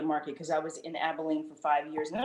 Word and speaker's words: Abilene: you mentioned uh i say abilene how's it pronounced abilene exactly okay my first market was victoria so